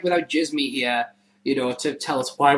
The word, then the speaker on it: Djismie: You can follow Djismie, by the way, at Van Djismie. That's with a K and Djismie with a D. Yeah, and the D is silent.